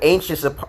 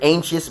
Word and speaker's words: anxious: man are you listening anxious see ain't chess you know c-h-u-s you see anxious there's an x there and sometimes the x is pronounced as a cha which is [ __